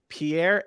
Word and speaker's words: Pierre: I never knew how to say Pierre's last name.